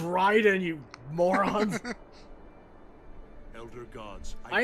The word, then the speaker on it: Raiden: It's pronounced Raiden, you morons.